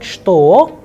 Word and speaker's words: что: Please remember the word что, which means what, is pronounced as что. However, when we write it, we write with che, but when we pronounce it, the sound is like sh.